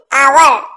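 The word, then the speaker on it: hour: और ऐसा भी कहा जाता है कि एच एक साइलेंट है, इसी वजह से भी आवर की ध्वनि आती है, आवर।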